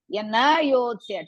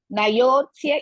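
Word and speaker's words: न योत्स्य: Na yotsya together. Na and yotsya together you have to pronounce. Na yotsya iti govindam.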